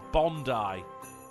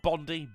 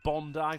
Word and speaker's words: Bondi: Oh, um, Memory Lock says it's pronounced Bondi. That's Is it? Yeah, not Bondi. Bondi.